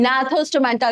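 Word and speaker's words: Gnathostomata: Vertebrata की division में further 2 हैं, एक है एग्नेथा जिसके जॉज नहीं है, एक है आपकी नाथोस्टोमेटा, जी साइलेंट है, ठीक है, जहां जॉज हैं।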